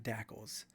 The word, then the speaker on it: DACLs: folders with the appropriate protected dacls or pronounced dacos the simplest and safest